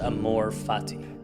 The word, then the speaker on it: amor fati: there's a Latin phrase pronounced Amor Fati it's one of the more powerful ideas I've